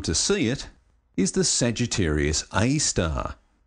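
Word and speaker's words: Sagittarius A*: see it is the Sagittarius AAR you're supposed to say AAR but really it's spelled a asteris because it's not exactly a star and you can't see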